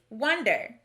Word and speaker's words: wonder: word this word is wonder notice that we pronounce the o in the first syllable more like a short u rather than o this is the schwa